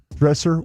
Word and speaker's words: Dresser: Dresser Winn.